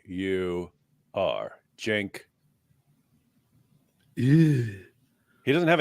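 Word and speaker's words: Uyghur: Y cand say about him u y g u r Jen yeah he doesn't have a h in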